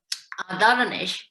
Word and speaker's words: Ardalanish: Ardalanish, I pronounce okay, Monica?